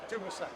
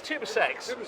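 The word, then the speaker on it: TUSAŞ: tell us Bruce you're from how are we pronouncing your company it's Tu sex it is Tu sex as you possibly know with the team from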